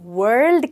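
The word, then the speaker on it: world: वर्ल्ड बोल देते हैं उन्हें लगता है ल एक अलग साउंड है पर यह नहीं है ये एक ही वर्ड है और इसको हम वर्ल्ड कहते हैं और ल काफी हल्का है तो अगर आप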